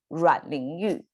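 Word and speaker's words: 阮玲玉: the suicides of this first generation movie star rotten you that's how to say her name she of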